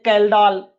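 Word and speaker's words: Kjeldahl: पहला क्या है, एक का नाम है ड्यूमास मेथड, दूसरा है जल्डाल मेथड, हिंदी में बोलते हैं कैल्डाल, जे को साइलेंट बोल देते हैं।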